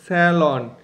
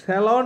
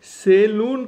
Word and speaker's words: salon: আজকে আমরা জানবো SALON, স্যালন। স্যালন স্যালন হচ্ছে সঠিক উচ্চারণ, সেলুন কিন্তু সম্পূর্ণ ভুল উচ্চারণ।